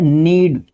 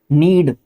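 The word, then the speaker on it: knead: नीड। नीड। यह नीड होता है। जब भी के के बाद एन आएगा आपका के जो है साइलेंट होता है।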